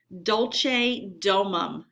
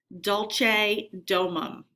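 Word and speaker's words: Dulce Domum: is called DOL domum It's Tricky and I had to look it look up how to say it because it's written in the language of Latin which is a very old language Dolce domum you say it Dolce domum in English it means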